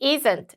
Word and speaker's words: isn't: 그러니까 우리가 읽을 때는요. 예를 들면 she isn't late 이러면 안 되고 그냥 she isn't late 이런 식으로 트 발음이 거의 안 난다고 생각하면 돼요. 그래서 뭐 it isn't가 아니고 it isn't 이렇게 발음을 해주면 됩니다.